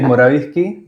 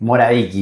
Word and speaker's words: Morawicki: ¿Morawicki? No sé. Para mí es Morawiecki. Morawicki, bien. Para mi hermano es Morawiecki. Cosas de la inmigración.